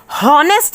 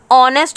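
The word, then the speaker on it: honest: यहां पर और एस हमने हो नेक्स्ट नहीं बोला ऑनेस्ट बोला तो इसमें हम इसको साइलेंट बोलते टेंस साइलेंट होता है इसीलिए हमने एंड लगाया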